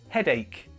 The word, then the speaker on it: headache: got a headache headache the pronunciation mistake I hear with this is head h it's not that it's headache imagine it's like a k headache now not only